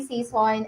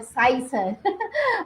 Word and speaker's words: Season: My name is Season, and I am a passionate teacher. Season, so that's Season, not Sison.